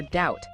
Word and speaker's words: doubt: And there's the silent B too, right at the end of words sometimes. That's right. Like in thumb or climb or doubt. The material uses that sentence, I doubt he'll climb with a sore thumb again to show that B is just gone.